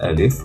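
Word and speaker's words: ألف: de la prononciation dans la lettre Alif en fait c'est un a comme en français on va essayer maintenant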